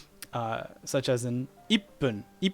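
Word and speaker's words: いっぷん: Ichi is pronounced as I, and this is small 2, which means the next syllable, the next consonant will be heavily emphasized. I. It's like your voice stops halfway.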